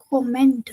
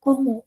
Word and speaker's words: comment: you see guys and it's not comment it's como. Why? Because any e and t ending word is pronounced as o in French.